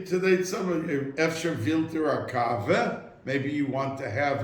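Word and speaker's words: קאַווע: And that every time he took a coffee, because the Yiddish word for coffee is kave. When we say today, somebody, efsher vilter a kave, maybe you want to have a coffee.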